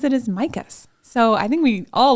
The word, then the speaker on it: Mikos: store and I always thought that it was MOS with an O um o o sound and he pronounces it as micas so I think we all learned something there